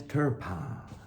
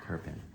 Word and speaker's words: Turpin: It's Benny Bassett and Turpin. That's not how you say my name. Oh, Turpin.